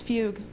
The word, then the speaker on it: Fugue: And again, it's Fugue. I know, tough to pronounce, but so it is.